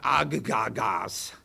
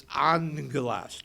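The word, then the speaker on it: ἄγγελος: So it's A-N-G-E-L in the pronunciation. Angelo, or angelas. It's not agagas, it's angelas.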